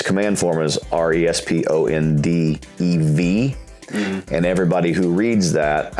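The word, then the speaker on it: répondez: You can take out the V-O-U-S, because responde in French, if it's a command form, is R-E-S-P-O-N-D-E-V. And everybody who reads that, actually, no, EZ, responde, the EZ is silent.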